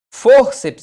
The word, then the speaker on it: fórceps: Fórceps é assim separado, ó. Fórceps. Por quê, Marcelo? Porque é o seguinte, ó, a sílaba tônica está aqui, ou seja, paroxítona, e